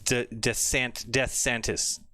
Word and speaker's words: DeSantis: You didn't say his name right. It's DeSantis.